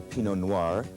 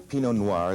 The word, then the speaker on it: Pinot Noir: Here we have the Pinot Noir. Pinot Noir, the grape that makes the great red Burgundies of France.